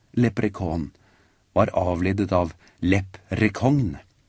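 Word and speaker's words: leprechaun: menneskene fikk vite at ordet lepr kon som uttales lepr kon var avledet av lepr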